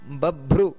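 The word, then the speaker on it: ಬಭ್ರು: ಮಾಡಬೇಕಾದರೆ ಗಮನಿಸಬೇಕಾದದ್ದು ರುದ್ರೋ ಬಹುಶಿರ ಬಬ್ರು ಬಬ್ರು ನೋಡಿ ಬಬ್ರು ಅದು ಮಹಾಪ್ರಾಣ ನಂತರ ವಿಶ್ವಯೋನಿ ವಿಶ್ವಯೋನಿ ಅಂತ ಅಲ್ಲಿ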